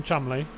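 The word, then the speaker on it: Cholmondeley: Sam yeah, and when I say his name, I am saying it correctly, by the way. Sam Chumley. And there's a lot of letters there that don't really contribute much to the.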